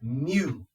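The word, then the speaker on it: μ: of U looking thing it's Mew Mew pronounced Mew okay and that that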